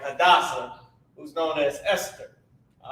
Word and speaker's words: Hadassah: All right, so let's put how to pronounce this. Ha, Da, S-A-H, Sa. Right, and this is how it's spelled. H-A-D-A-S-S-A-H.